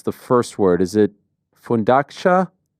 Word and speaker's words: Fundacja: I don't know how to pronounce the first word. Is it Fundacja? Fundacja, yes, it's like foundation.